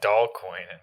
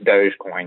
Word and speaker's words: Dogecoin: with dogecoin today right how you pronounce it yeah like dog coin yeah or whatever basically is it but it's dogecoin yeah so they're trying